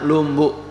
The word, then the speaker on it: Lombok: membeli cabe tetapi sebenarnya lombok itu bahasa sasaknya itu artinya lurus jadi lombok itu bacanya Lumbu bukan Lombok tulisannya Lombok Tapi bacanya lombok lombok itu artinya lurus